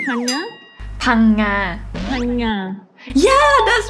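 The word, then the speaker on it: Phang Nga: Phanga. Phanga. Yeah, that's right. Yeah, okay. Yes. Your pronunciation is really great.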